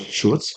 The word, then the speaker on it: Schultz: So of course it's a crunch time, and I think Starbucks, the former CEO, right, the founder, like Howard Schultz, is that the proper pronunciation?